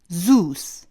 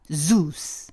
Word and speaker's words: Zeus: 한국어로는 제우스 이렇게 3syllable이 되지만 영어로는 1syllable이에요. zeus 하시면 되거든요. zoo 동물원이죠. 거기다가 S 살짝 붙이신 발음하고 똑같습니다. zeus 하시면 되고요.